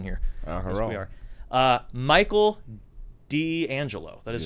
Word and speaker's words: D'Angelo: No, people say people mispronounce all the time. The whole time I was like in boot camp, they called me Dangelo because they don't put